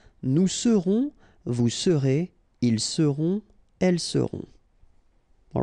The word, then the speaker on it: seront: Ils seront, final T not pronounced, and then you've got this nasal, on, seront.